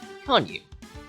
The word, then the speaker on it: Konyu: And we also gain access to a second character here as well, Konyu. Yes, that's the canon pronunciation.